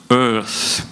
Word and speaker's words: Eaarth: of need, I think, to pronounce it correctly, you need to sort of remember your former governor. Sort of Earth would be sort of the correct pronunciation.